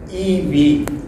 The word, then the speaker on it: EiV: Let me introduce our platform, which is pronounced EV. EI is pronounced E and V.